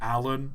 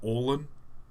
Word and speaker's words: Alan: The fact that I doubled down, I know now, thanks to all the comments, that it's pronounced Alan, not Orlan. It's just Alan with 2 L's.